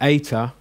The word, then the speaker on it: eta: okay and then the that ater is pronounced a eight as in obey so that's the difference